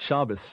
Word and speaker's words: Shabbos: may not even know what Shabbos is which is Sabbath that's Jewish pronunciation of Sabbath just to clarify that